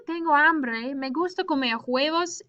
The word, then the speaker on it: huevos: Remember, H's are not pronounced, okay? Or not, they don't have a sound in Spanish. So we don't say los huevos, we say los huevos. We start with the U.